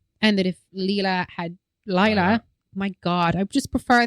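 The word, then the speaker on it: Lyla: Y is usually an I sound. Laya.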